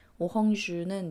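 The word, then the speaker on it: Orange: 번쯤은 들어보셨을 통신사 이름이죠 오주는 이제 오렌지 네를 슷 똑같이 쓰는데 이제 발음은 불어로 오주 가 되는 거고요 어 이야기를 좀 더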